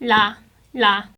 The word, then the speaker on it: ㄹ: like oh low when you pronounce this layer you kind of pronounce it abruptly like la la just smoothly so it's not like la or ro it's just la la let you know some